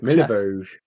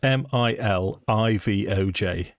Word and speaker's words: Milivoj: That's Milivoj. Milivoj. Well, you see, it's because it's a pronunciation thing. It's Milivoj. Milivoj. Milivoj. Hang on. It's like close to MIL Mojave, isn't it? Ivoj. VOJ.